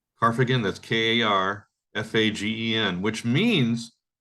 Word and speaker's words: Karfagen: called I mean I'm not sure how to pronounce it but it's carf again carfagan that's k-a-r f-a-g-e-n which means carthago now there's